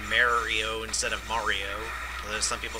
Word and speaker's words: Mario: But it's supposed to be said Mario, even if you are Italian. I'm not an expert on Italian, but I can pretty much say that Mario is the correct way to pronounce that name.